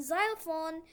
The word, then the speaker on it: xylophone: And in xylophone, X is silent. Instead X, you pronounce Z.